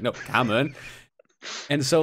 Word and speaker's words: Cảm ơn: They're like, "Cảm ơn," and I'll be like, "Cảm ơn," and they're like, "No, it's Cảm ơn." And I'm like, "Yeah, Cảm ơn," and they're like, "No, Cảm ơn."